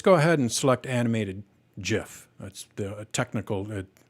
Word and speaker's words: GIF: ahead and select animated GIF. That's the technical, everyone calls it GIF, but apparently a couple of years ago it came out that you pronounce it as in the peanut butter GIF.